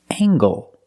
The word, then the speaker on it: angle: And this word, angle. With angle, we pronounce the hard ggg sound. Angle. Angle. Use the long ale.